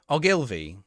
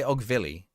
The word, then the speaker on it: Ogilvy: Ogilvy. I always say Ogvilly. Ogilvy.